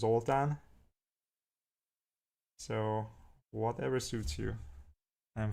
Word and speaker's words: Zoltán: Like Zoltan is the American way, right? That's my normal name, but in Hungarian it's actually pronounced Zoltán.